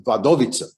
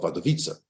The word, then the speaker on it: Wadowice: In Polish, every word has its stress on the next to last syllable. That's why it's Warszawa or Święcim. That's the Polish word for Auschwitz. So this is Wadowice or Wadowice.